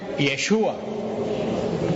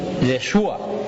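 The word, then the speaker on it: ישוע: es Jesús pero como en hebreo no se pronuncia Jesús en hebreo se pronuncia yeshua yeshua Y ustedes saben Cuál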